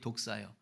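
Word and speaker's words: δόξα: 여러분 공부합니다 영광이 뭡니까 이게 헬라어로는 독사 그래요 뱀이 아니고 헬라 발음이 독사 이제 안까 먹겠죠 예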